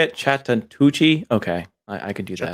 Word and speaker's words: Chattahoochee: Chattahoochee.